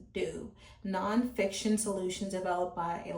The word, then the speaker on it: Doux: So, it says pronounce "do".